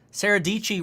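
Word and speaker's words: Sara Dietschy: You know, last time I did a setup tour was actually with Sarah Dici. Sarah Dici rhymes with Peachy.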